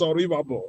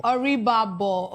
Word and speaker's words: Oribabo: I'm very sorry the real pronunciation is Oribabo. Oribabo. Oribabo.